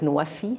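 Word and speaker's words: نوفي: food, and energy, NWFE, and that is pronounced in Arabic Nuwafi, and that means fulfilling pledges.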